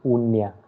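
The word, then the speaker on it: uña: It is unya. Okay, nya is nya sound. This na. So it is la unya.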